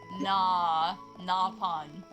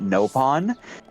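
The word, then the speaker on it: Nopon: I will say, Xenoblade X, they started pronouncing it no pawn. That is a huge pet peeve for me. I will lose my shit if someone says it. Nah pawn. No pawn. That is No a pet pawn. peeve for me. Because that's not how you say it. No pawn. Xenoblade X is the only Xenoblade game to pronounce it that way.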